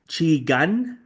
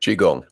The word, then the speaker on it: Qigong: regards to Tai Chi and Qi Gun. I think that's how you pronounce it. Is it? Qigong.